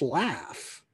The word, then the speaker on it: laugh: It's just laugh. But I think that they've kept the spelling for it in this case so that we could pronounce it in the way that would make it rhyme with cough, that would keep those rhyming couplets.